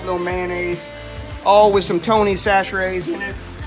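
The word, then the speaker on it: Chachere: all with some Tony's sash raise you're wondering how to say it that's how you say it if you're from Louisiana disaster aid don't even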